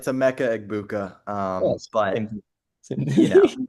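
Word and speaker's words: Emeka Egbuka: I got Emeka Ibuka. Is that how you say his name? He's pretty good. Yeah, And close then enough. For um, reference, it's a Mecca Egbuka.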